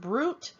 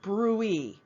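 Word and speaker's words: bruit: brutes now it could be pronounced brute or brewee it depends on who is saying it but that is an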